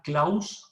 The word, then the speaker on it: Claus: el profesor claus roxin se escribe klaus con x al final así como suena close x al final roxin se escribe